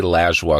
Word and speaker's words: Lajoie: imilajua or I say lashua because that's how we pronounce it in Quebec but everyone else pronounces